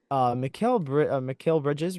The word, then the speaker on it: Mikal Bridges: um, Mikal Bridges, right?